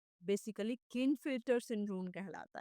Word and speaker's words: Klinefelter: ये आपका 47 आ रहा है, जहाँ पर ये बेसिकली क्लिनफिल्टर सिंड्रोम कहलाता है।